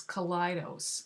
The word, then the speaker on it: Kaleidos: brand correctly it is colitis like kaleidoscope and it even says that on the website so I think what